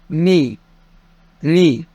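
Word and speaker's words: に: عن اللغه اليابانيه عشان نفرق بين النطق الصح والنطق الغلط نبدا برقم واحد ونقول اتش رقم اتنين ني ني رقم تلاته رقم اربعه سي سي وممكن اقول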